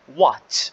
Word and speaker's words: what: احنا بنعرف انه حرف ال H هون تلقائيا completely silent، يعني دائما حيكون عندي صامت ونتجاهله، فاحنا بنحكي هون what.